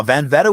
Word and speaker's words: Velveta: Now, Velveta, we know, rhymes with Loretta.